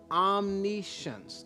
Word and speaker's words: omniscience: mind of spirit we understand spirit to be omniscience type that in the chat room and i'm going to spell it for you o m n i s